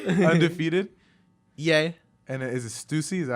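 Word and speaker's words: Stüssy: and is it Stussy? Is that how you pronounce it? Stussy, yeah.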